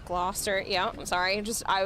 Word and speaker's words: Gloucester: Glosser becomes Gloster.